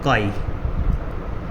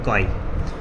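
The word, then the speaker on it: χ: बनता है, और ये इस सिंबल को हम बोलते हैं काई। प्रोनाउंसिएशन जो इसकी होती है काई, ये पहली बार आप सीख रहे हैं तो इसको ध्यान से सुनना।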